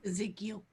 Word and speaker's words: Ezekiel: Ezekiel.